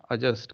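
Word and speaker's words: adjust: तो एडजस्ट कर लीजिए नहीं बोलना है, एडजस्ट कर लीजिए, डी नहीं बोला जाता। A और J के बीच में जब भी D आएगा उसका साउंड नहीं किया जाता, उसका प्रोनाउंसिएशन नहीं किया जाता।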